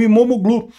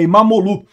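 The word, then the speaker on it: İmamoğlu: A aliás, o regime do Erdogan prendeu até o prefeito de Istambul, o Imomoglu. Falei sobre isso, aliás, não se pronuncia o G, né? e Imamolu, eh eh que é o principal opositor do país.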